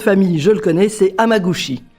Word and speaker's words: Hamaguchi: En tout cas, le nom de famille je le connais, c'est Amagushi. Amagusi.